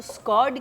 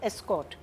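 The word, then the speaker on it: escort: Politician की mispronunciation थी, मुझे स्कॉड करने का ऑर्डर आपको आया था, तो स्कॉड करने का नहीं, इट्स एस्कॉर्ट।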